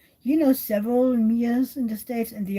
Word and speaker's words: Mia: Um, but in English, especially, some people tend to call me because they see the MIA and they're like, and I'm like, no, you don't need to say it like a Y. It's kind of like like me, the word me, and then an A and at the end of it, so Mia.